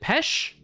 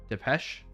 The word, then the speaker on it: Depeche Mode: Depeche Mode. Depeche or Petch? Is it Pesh? Depeche? Depeche. Depeche. Okay, Depeche. Pesh. Maybe you need to play clips of those bands. Not on stream. E is silent.